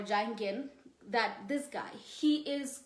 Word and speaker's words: Jung: Then Sigmund Freud had a student who is called Carl Jung or Carl Jung, different ways to pronounce his name. Carl Jung or Jung or Jungen, that this guy, he is currently famous.